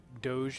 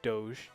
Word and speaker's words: Doge: something okay yeah yeah I I looked up what Doge means and we're saying it right Doge Doge and it's the chief